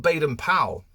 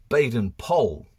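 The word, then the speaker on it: Baden-Powell: a bit of research and actually it's not bad and powell in fact we're meant to pronounce it baden pole so baden powell says this quote on remembering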